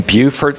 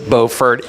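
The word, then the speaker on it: Beaufort: a zoning Hearing in Buford South Carolina you do not pronounce it bordt in South Carolina I made sure not to do that and um just want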